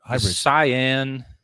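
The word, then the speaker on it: Sián: they're naturally aspirated it's gonna be a hybrid cyan s-i-a-n i think that's how you say it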